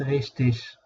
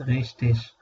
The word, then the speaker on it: richtig: ist richtig das ist richtig، والإي جي اللي في الآخر في بتتنطق إيش وبتتنطق إج. تمام، يعني في جزء من الناس بينطقوها إيش وفي ناس بينطقوها إج، فأنت متاح لك تنطقهم الاتنين.